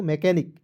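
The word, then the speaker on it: mechanic: एच ए एन आई के क्या पढ़ेंगे दोस्तों मैकेनिक एम ई मे सी एच ए के मैकेनिक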